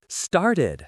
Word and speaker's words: started: Started. Started. The e d sounds like itid here.